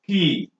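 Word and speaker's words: quay: is space q u a y which is pronounced as Ki he in this sense no means a kind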